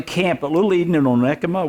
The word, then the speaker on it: Onekama: I was at camp at Little Eden in Onekama. 1 comma that's how you spell it.